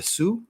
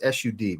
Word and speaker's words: Sud: have I'm assuming it's very Sue is how you say that it's sud but better sue that's what we're it's